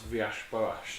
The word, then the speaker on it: Villas-Boas: I also love how you pronounce Villas-Boas then.